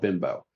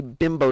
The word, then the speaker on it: Bimbo: Every every time I go grocery shopping down here in Texas and in Mexico, there's a bakery company called Bimbo.